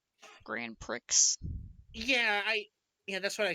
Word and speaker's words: Grand Prix: Because it's supposed to be Grand Prix. Oh. Wouldn't it be GPX because pre is spelled PRIX? Grand Prix.